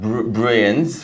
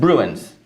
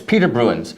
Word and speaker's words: Bruijns: It's not Bruijns because the J is silent. It's Bruijns. It's Peter Bruijns, Peter Bruijns.